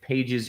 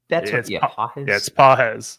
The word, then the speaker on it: Pages: good uh did get a question about if pages is worth a start since Freddy is out is that how you pronounce his name it's pz that's what I thought okay um anyways Christie